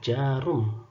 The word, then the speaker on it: Djarum: Kemudian zaman dulu ya, DJARUM. Ini dibacanya jarum. Bukan jarum, bukan de jarum, bukan, tapi jarum.